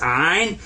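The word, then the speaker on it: عين: when you see this that's ein so you say ah and this is another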